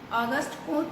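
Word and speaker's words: Auguste Comte: আমি এই বানানটা লিখছি এই জন্যই, অগাস্ট কোঁৎ বানানটা কিন্তু বেশ কঠিন এবং এর উচ্চারণটাও কিন্তু বেশ কঠিন।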